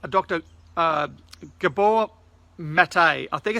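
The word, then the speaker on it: Maté: Gabor Matei I think it's pronounced met a ma t e with a little - so it's like cafe so I it's not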